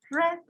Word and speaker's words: read: de frío es red red se escribe igual que se pronuncia diferente peter red tribu c's